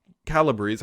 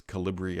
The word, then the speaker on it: Calibri: font for office so right now it's uh calibres I've always pronounced it but it's calibri I believe other people whatever